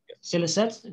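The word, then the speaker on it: Scilicet: I pointed out that you could refer in the answer to Scrag as radiophony in the last, how do you pronounce that word? Silicet.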